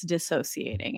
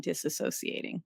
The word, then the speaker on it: dissociating: the other day and they had said that it's dissociating and not disassociating and I was like